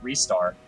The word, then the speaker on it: Ristar: things with his wrists I just think that restart sounds better and that's how always talking on stood oh wait what was it and Santa rhymes with let's start it does run with would start so it makes my name make sense and then the other one is restart which is the official Japanese pronunciation and what is the